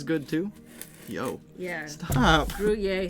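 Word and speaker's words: Gruyère: Sorry, Lily says Gruyere? Gruyere? Yes, okay. that's it. Thank you. There's an R at the end there, so I was like, Gruyere? Gruyere. I think it's pronounced Gruyere. I could be wrong.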